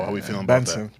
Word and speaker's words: BNXN: formerly known as boujou how are we feeling benson pronouncing that oh benson okay thank you thank you thank you how